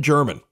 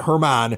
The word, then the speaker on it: German: and by the way it's it's Franklin German it's not Herman hey Frankie German okay so but he